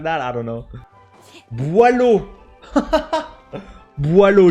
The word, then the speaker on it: Boileau: Boileau, chat. That's how we pronounce it.